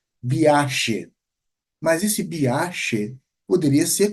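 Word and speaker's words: viaxe: Os galegos não vão pronunciar o G dessa forma, eles vão pronunciar como se fosse realmente um som de um X. Então, eles vão pronunciar biache.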